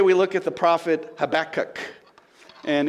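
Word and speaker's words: Habakkuk: look at the prophet habach and if you really want to say it right you get that nice little curl in the back of your throat as you say that double K right and and you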